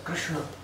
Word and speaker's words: Krishna: mantra, we should pronounce Krishna clearly, otherwise we don't get 100% benefit according to Harinam Chintamani. So, it's Krishna. The tongue should bend, Krishna, and then touch the top of the palate.